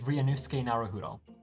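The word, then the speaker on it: Ryunosuke Naruhodo: okay having Googled it it appears it is ranus narudo so we're going to try that ranus I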